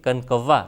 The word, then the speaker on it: کنکوا: ہے اور کنکوا ہے، جس کو بعض اوقات کنکوا بھی کچھ حضرات کہہ دیتے ہیں، اردو لغت بورڈ کے مطابق یہ کنکوا تلفظ ہے اس کا، یعنی پتنگ